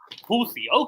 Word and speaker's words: Houthi: So you even sure the sound is hard to pronounce because you might not have it in for example English, but that at least that sound exists in English, like in birth. It's Houthi.